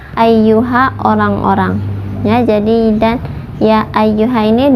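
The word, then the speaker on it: يا أيها: Ya ayyuha dibacanya 4 sampai 5 harokat. Mad jaiz munfasil. Kemudian ai di atas ya ada tasdid, jadi bacanya ditekan ai seperti itu.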